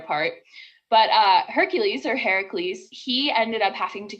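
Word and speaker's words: Ἡρακλῆς: it's really funny because his uh greek name the greek pronunciation is actually heracles which uh translates roughly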